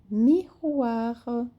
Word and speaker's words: miroir: Então, j'ai un miroir. O R é pronunciado e a última vogal, ela é bem sutil com R, ok?